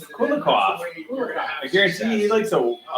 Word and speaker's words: Kulikov: How do you pronounce that name? Kulikov. Kulikov.